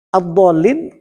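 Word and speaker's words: الضالين: Jadi kalimat ad-dallin karena lamnya bertasydid harus ada pemberatan bunyi tasydid yang disebut dengan istilah nabar.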